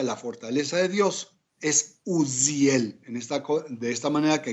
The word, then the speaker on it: Uziel: fortaleza de Dios es Uziel. De esta manera que aquí no lo pronunciamos con la S, sino lo pronunciamos con la Zayin hebrea, que tiene este sonido tan particular.